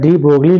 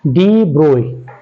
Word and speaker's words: de Broglie: और ब्रोगली हम ज़्यादातर बुक्स में डी ब्रोगली लिखा होता है, तो इन केस हमारा मुंह से ये भी निकल सकता है डी ब्रोगली, लेकिन रियल में इनका जो प्रोनाउंसिएशन है वो है डी ब्रोई, और इनका फुल नेम था लुइस विक्टर डी ब्रोई।